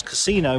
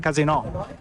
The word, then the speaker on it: casino: pronounced in Italian, because casino means shit show in Italian. Yeah. So it's very important, the intonation, casino, rather than casino.